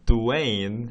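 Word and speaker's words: Dwyane: the name Dwayne is spelled D-W-A-Y-N-E. Now, for some reason, unbeknownst to me, Dwayne Wade at birth was named D-W-Y-A-N-E. Essentially rendering Dwayne as Dwayne.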